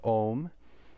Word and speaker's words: oṃ: Om is not just two sounds. It's not o and it's three sounds, because within the o is a and u together.